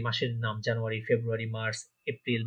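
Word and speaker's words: Februar: ফেব্রুয়ারিকে কি বলবো আমরা? ফেব্রুয়ারিকে বলবো আমরা ফেব্রুয়ার। হ্যাঁ, ফেব্রুয়ারি আর হবে না, ফেব্রুয়ার।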